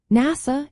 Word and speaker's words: NASA: NASA is an acronym pronounced as a word while FBI is an initialism said letter by letter.